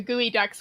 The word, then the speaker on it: geoduck: you can you in fact eat the the gooey ducks which i thought i would never have realized were pronounced that way they're actually a delicacy in